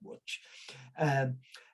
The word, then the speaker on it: Łódź: I think they pronounce it something like Łódź.